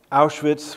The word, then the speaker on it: Auschwitz: And by its sheer magnitude, Auschwitz, which is the German pronunciation, was the most harrowing of the camps.